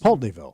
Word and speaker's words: Pulteneyville: it's Pulteneyville.